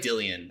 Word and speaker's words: Dillion: Well, it's like Dillion, actually. It's Dillion. But in America, we pronounce that Dylan.